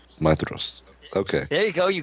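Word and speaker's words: Maedhros: Madros, oldest son of Fëanor. Is that how y'all pronounce that? Madros? Yeah. Madros? It's Mithros. That's right. DH is a Maestros. TH. Maedros. Mithros.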